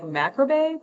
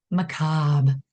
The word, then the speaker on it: macabre: I don't know why I look at it like macrabe, but you said it's Yeah. Macabre. macabre.